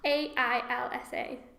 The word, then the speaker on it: Ailsa: Yeah, I'm sure it's a lot easier when you know how it's pronounced properly. How's it spelled? A-I-L-S-A.